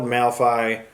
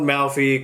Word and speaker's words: Malfi: have it ghost written by Ronald malphi no I said it wrong again so there you have ghosts written by Ronald malphy coming out October 11th